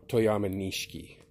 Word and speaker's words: Toyama Nishiki: It's very similar to much more available toyama nishiki, or toyama nishiki is how it's pronounced.